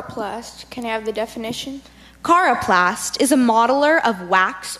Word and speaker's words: coroplast: Cara Plast Cara plus can have the definition coroplast is a modeler of wax or terracotta figurines